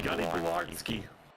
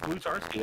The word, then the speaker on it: Blutarski: Gunny Blardsky. Yeah, good hands by Blutarski. Is that what he said? Blutarski? Yep, it's Blutarski. I actually pronounced it wrong.